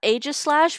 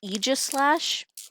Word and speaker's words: Aegislash: I remember there was always a debate about Aegislash versus Aegislash. Like how you say it. I always voted Aegislash because AE next to each other usually just make the A sound.